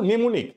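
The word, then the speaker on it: mnemonic: technique এগুলোকে নেমনিক বলে এখন আমি উচ্চারণ করতেছি নেমোনিক কিন্তু বানানের মধ্যে তুমি একটা এক্সট্রা এম দেখতে পাচ্ছ রাইট তার মানে আগে যখন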